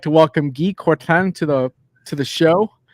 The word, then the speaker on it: Guy Courtin: We're going to try to do it the French way. I'd like to welcome Guy Courtin to the show.